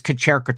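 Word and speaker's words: Kćerkica: you're welcome and hello kacherica if somebody didn't know how to pronounce that it is kacherica 25 which is Serbian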